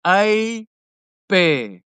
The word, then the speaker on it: Hebert: The a so the the so the the h is silent. It's a bear.